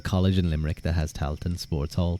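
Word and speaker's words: Tailteann: How do you pronounce it? Toilton, is it? Toilton? Tailton? I think maybe Talton. So it's just Talton. AI is just A, usually.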